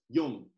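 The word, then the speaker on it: ยุง: And the Thai word for mosquito is yung.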